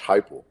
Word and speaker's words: Heupel: No, you said Heupel.